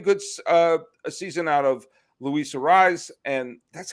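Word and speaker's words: Luis Arraez: And you're getting good a season out of Luis Ariz, and that's how you pronounce his name, right?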